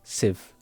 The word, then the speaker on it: sieve: So it's not sieve, it's sieve, like sieve. Yep, she just nodded at me. That's how you say it.